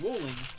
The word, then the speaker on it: Rowling: That was just like, yeah, no, her name is Rolling, and it rhymes with trolling, so J.K.